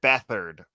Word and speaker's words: Beathard: first name was Casey did you know that beathard was the preferred pronunciation family I wanted to say it it